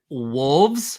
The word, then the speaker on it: wolves: But Lauren always roasts me because I never pronounce the L in like wolves, like timber wolves.